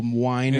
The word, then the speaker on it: Weiner: Matthew Winer. Matthew Weiner. Oh, Winer. He's like, "Well, I really